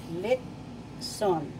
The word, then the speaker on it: litson: the dialogue as well so i'm going to tell you first syllable lip second syllable sun lip sun that's the philippine tagalog